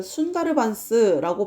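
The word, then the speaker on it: Sundarbans: 그리고 이 지역 이름이요. 그 순다르반스라고 발음을 한대요.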